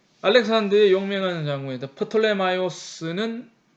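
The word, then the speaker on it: Πτολεμαῖος: 프톨레마이오스는 보통 이제 그 영어에서는 P 발음 안 해서 톨렘이라고 얘기를 하는데 그죠? 영어식 표현이고 오리지널은 프톨레마이오스고 영어에서는 톨렘이라고 그런다는 거죠.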